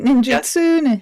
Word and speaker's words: ninjutsu: Ninjutsu sounds fascinating as well. Did I pronounce that right? Ninjutsu?